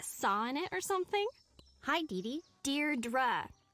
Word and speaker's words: Deirdre: or something hi didi Deirdre I know it's got that tricky second syllable but I figured it